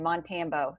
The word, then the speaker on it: Montambo: everybody always stumbles over my last name, Montambo. It's like Rambo, not hard, but nobody. I said it wrong? Yeah, maybe a little bit. What did I say? Everybody says Montambo, which I did too, like when I first met him.